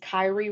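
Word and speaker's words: Khary: just practice this so his name is Kyrie Wright it's spelled k h a r y and if you only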